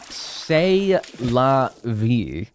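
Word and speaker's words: C'est la vie: Pronounced say la v.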